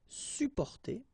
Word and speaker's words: supporter: You can also add this SUP in front of porter, supporter, supporter. You don't really pronounce the two or the double P here.